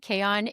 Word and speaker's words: Chaon: these people, and Dan Kayon is probably one of my new favorite people on Instagram. He is hysterical. Like, you should go follow And him. his last name is spelled Chaon if you're going to